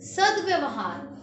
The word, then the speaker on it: सद्व्यवहार: सद्व्यवहार, ये जल्दी बोला जाता है, इसे सद्व्यवहार नहीं कहते हैं, सद्व्यवहार। द जल्दी बोला जा रहा है इसलिए द के पैर में हलंत और व भी आधा।